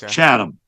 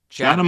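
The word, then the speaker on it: Chatham: pronouncing it right but is it chadam Ontario Canada is that how you say it or about 60 miles uh north of little town right pronounce chadam chadam Ontario I noticed they've produced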